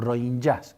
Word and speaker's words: Rohingya: una limpieza étnica monstruosa, la de los rohingyas, o rohingyas, como los pronuncian en birmano.